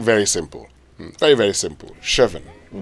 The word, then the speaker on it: chevon: It's pronounced chevon.